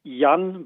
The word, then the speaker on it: Jan: Hey, that very good. Yeah, Jan is correct. Nice. I mean, in German, we would just say Yan, but whatever.